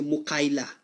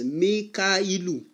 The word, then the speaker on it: Mikailu: I want to see some people, they don't know how to pronounce Mikhail, they now say Mukaila. there is nothing like Mukaila. It's Mikailu.